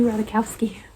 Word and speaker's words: Ratajkowski: be i read emily ratakowski saw how you say it okay i looked it up i was right emily radakowski so i read her